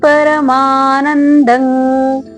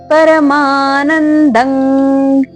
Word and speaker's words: ಪರಮಾನಂದಂ: they ಕೂಡ ದೀರ್ಘ ಇರಲಿ ಹಾಗೆ ಪರಮಾನಂದಂ ಇಲ್ಲಿ ಪರಮಾನಂದಂ ಅಲ್ಲ ಪರಮಾನಂದಂ ಹೇಳಬಾರದು ಇಲ್ಲಿ ಕೂಡ ಅನುಸ್ವಾರ ಇದೆ ಕ ವರ್ಗದ ಅನುನಾಸಿಕ ದೇವಂಗ ಓಕೆ ಉಚ್ಚಾರಣೆ ಮಾಡಬೇಕು ಈ ರೀತಿಯಾಗಿ ದೇವಕಿ ಪರಮಾನಂದಂ